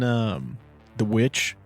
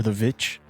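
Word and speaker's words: The VVitch: He's in The Witch or The Vitch, depending on how you pronounce it, but it was like Robert Eggers' first movie.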